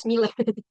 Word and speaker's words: SMILA: ada Sipnap ya itu bukan bacanya bukan Smile ya teman-teman tapi bacanya Smila.